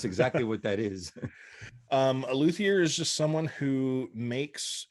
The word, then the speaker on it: luthier: So you are a luthier. Is that how you pronounce it?